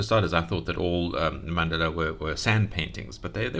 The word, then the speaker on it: Mandala: I think that's how you pronounce it. Mandala.